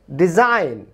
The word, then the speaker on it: design: এরপরে ডিজাইন, ডিজাইন, SIGN, DESIGN, GN, জি এর উচ্চারণ হচ্ছে না।